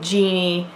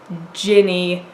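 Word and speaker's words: Jinni: I'd been saying Genie, then my husband, who knows something about Arabic, informed me that it is Ginny, and I'm trying to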